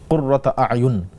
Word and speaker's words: কুররাতা আয়ুন: কুররাতা আয়ুন, যদি আপনি পরের শব্দের সাথে মিলিয়ে পড়তে চান তখন পড়তে হবে কুররাতা আয়ুনিউ ওয়াজআলনা লিল মুত্তাকিনা ইমামা।